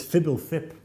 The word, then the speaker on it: FBLTHP: Okay, I would say Fubblethub. Oh, it's Fibble Thip.